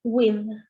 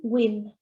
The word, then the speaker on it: with: Esa D se pronuncia con la lengua entre los dientes. Por lo tanto, esto me queda chatting with, chatting with.